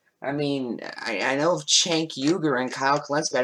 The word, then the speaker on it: Cenk: don't know who this Seneca is. From the Young Turks has come up with called the Justice Democrats. Wait, from the Young Turks. Do you mean Cenk? You pronounced Cenk as Seneca.